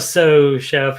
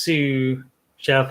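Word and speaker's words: sous chef: It's not a so chef. It's pronounced Sue chef, I think.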